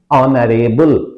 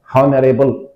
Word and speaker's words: honorable: would have come but honorable wrong it's not correct pronunciation it's honorable because initial H is silent hence and is Justified